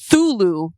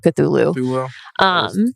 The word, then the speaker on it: Cthulhu: Thulu is my personal favorite pronunciation of Cthulhu. Cthulhu is always pronounced as Cthulhu.